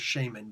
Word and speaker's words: shaman: think of actual shaman think of an act and actually pronounce Shaymin but anything that you